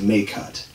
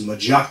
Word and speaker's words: Majkut: really say my name it's m a j k u t pronounced may cut but it's usually pronounced by other people as majak to mahuts my Hoots and any maybe just